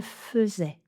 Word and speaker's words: faisait: Il ou elle faisait il ou elle faisait la fête quand ils étaient étudiants. Donc voilà, notez-le bien, c'est un des rares cas où ai se prononce eux.